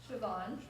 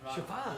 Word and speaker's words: Siobhan: The BH is always pronounced like a B in Irish. Do you want a fun fact? Wait, say that again. A BH in Irish is always pronounced like a B sound.